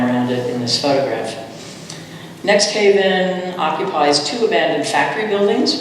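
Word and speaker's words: NXTHVN: the times was so interested in this is pronounced next Haven it's located in the Dixwell neighborhood of New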